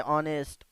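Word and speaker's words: honest: बाद एच नहीं आया है, फिर भी एच साइलेंट है, ठीक है। ऑनेस्ट और हु, यहाँ पे डब्ल्यू साइलेंट है।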